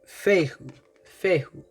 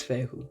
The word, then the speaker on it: Fehu: This is Fehu. Let me make sure I'm saying it right. Fehu. Okay? So this is Fehu.